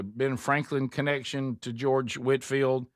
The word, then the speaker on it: Whitefield: of in the movie his name is clearly spelled Whitefield but he went by Whitfield and that's how you pronounce it.